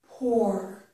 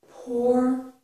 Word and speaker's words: pour: Sounds like the word or. So this is pour, pour, pour.